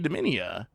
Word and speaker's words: Dominia: I was thinking that Garfield was mispronouncing it. But no, it was actually Dominia.